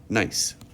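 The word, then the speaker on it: gneiss: foliated texture of and this is a strange word it's pronounced nice some metamorphic rocks such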